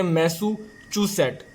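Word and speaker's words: Massachusetts: Friends, इसको हम pronounce करेंगे मैसूचूसेट। ये दोस्तों चे की आवाज़ निकालेगा ना, तो मैसूचूसेट ये हमारी फोर्थ स्टेट होगी।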